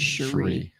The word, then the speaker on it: Cherie: about folks is that actually is a wood carver I will say them the right pronunciation of my name is Cherie because I messed that